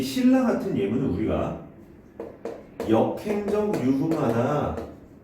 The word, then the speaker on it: 신라: 얘는 우리를 발음을 신라 이렇게 발음을 합니다.